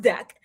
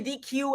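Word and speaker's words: deque: It's pronounced deck. Don't say, some people say DQ.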